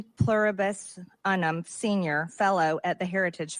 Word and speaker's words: Unum: Pluribus Unum Senior Fellow at the Heritage Foundation. Okay. MTG. Come on. Unum. Not Unum. Like E Pluribus Unum. That's how you say it.